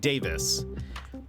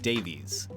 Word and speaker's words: Davies: say his name because in Taskmaster they say Greg Davis but in um travel man Richard ayawada says he says his name is Greg Davies so I'm very confused